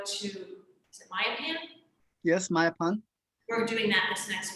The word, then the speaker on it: Mayapan: Yes, Mayapan.